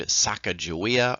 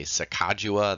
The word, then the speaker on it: Sacagawea: a native woman named Sacagawea or you could say Sakawa there's no real consensus on how to sit it's how to say her name Aidid as an interpreter